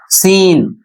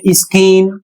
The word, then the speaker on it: scene: और इसका प्रोनन्सिएशन होता है सीन। यदि इसे आप पढ़ते हैं स्किन तो यह बिल्कुल गलत है।